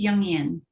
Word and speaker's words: Jungian: Did I pronounce that right? It's Jungian.